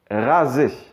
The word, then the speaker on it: raser: Le son Z comme un Z, finalement, on va le retrouver quand le S va se placer entre deux voyelles.